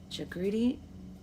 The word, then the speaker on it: Jagriti: Jagriti, pronounced with a J, but no accent on the second syllable.